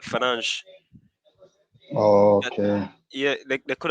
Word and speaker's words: Fernandes: That's how I knew it was not Bruno Fernandez, but Fernandes.